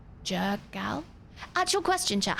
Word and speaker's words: Jergal: Jurgle. Jurgal? Actual question, chat. How do I pronounce that? Actual question. Jurgle? Jurgal? How do I pronounce that? Jergal. Gurgle?